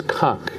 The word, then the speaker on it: conch: So now how do you say the word again? It's conch. Conch, all right.